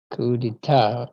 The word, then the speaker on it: coup d'état: But yeah, but your pronunciation on that one is good. Coup d'etat.